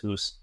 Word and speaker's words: Hus: called Hussites, even though I'm pretty sure his last name is pronounced Hus.